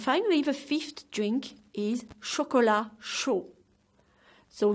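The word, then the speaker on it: chocolat chaud: the fifth drink is chocola show so the T is silent of shkolla and McGee of show so one more time shkola show winter can be downright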